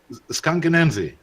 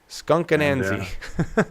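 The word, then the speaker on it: Skunk Anansie: How's it pronounced? Skunkanansi. Skunkanansi.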